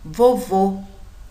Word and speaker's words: vovô: é mais fechado e observem vovó o som é aberto vovô o sonho mais fechado o tanto acento agudo